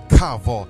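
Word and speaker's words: קָוָה: Wait in the Hebrew is called kavod. Kavod.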